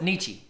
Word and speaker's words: Nietzsche: Frederick niche niche a Nietzsche I know is Nietzsche that's how you say it I know how to